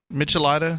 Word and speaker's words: Michelada: Or at least a shrimp michelada. Michelada?